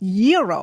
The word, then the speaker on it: gyro: Gyros I order the gyro Supreme suddenly the lady behind me chimes in it's pronounced Euro then the fellow behind her says it's a gyro I turn my back